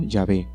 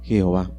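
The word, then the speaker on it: Yahveh: bien está bien porque todos los evra estas modernos están de acuerdo que la manera original y primitiva de pronunciar el nombre de dios debía haber sido llave y no jehová llave es una forma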